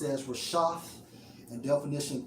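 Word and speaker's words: רֶשֶׁת: the brother's lesson, and it's Strong's H 7568, pronounced as Rashath, and definition 3 of leaders leading people to sin.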